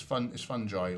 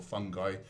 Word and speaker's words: fungi: It's fungi or fungi. You can pronounce it either way.